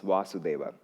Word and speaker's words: Vasudeva: how they evolve, becomes Vasudeva. And I'm sorry, that's the most I can do. It's the first syllable is longer. That's how you say it.